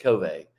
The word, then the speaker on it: Covey: so it's pretty funny the Mormon version of the last name pronounces her name Covey the Methodist version of the last name pronounces it covet so they have a